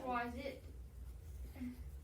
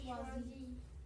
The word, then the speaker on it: choisis: Schwa, Um, E, it's I-T, but I don't know how to say Schwaz it. Alright, so everybody say je choisis, it. Just Schwazi.